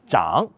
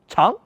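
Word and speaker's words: 长: signifie département ou ministère Chan signifie chef ou responsable oui je sais normalement ce caractère se prononce Chan signifiant long longueur poujan désigne le chef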